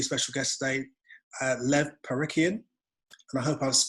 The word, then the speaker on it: Parikian: got a really special guest today uh lev parikhian and i hope i've pronounced your surname correctly you have and you've